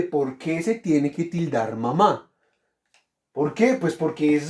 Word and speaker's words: mamá: tengo para sí mamá cuántas sílabas tiene mamá 2 muy bien ma ma cuál es la sílaba tónica de mamá está o está la última o la penúltima la última profe muy bien ahí está